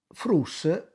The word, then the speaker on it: fruts: Frus si scrive con la S naturalmente, ma attenzione, la S si giunte alla parola senza tira via la T. Anche se io pronunci frus, ma scrivo fruts, d'accordo? L'importante è che è uno